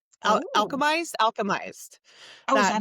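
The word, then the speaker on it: Alchemised: Ooh, Alchemist. Oh. Alchemized. Oh, is That that how new you one.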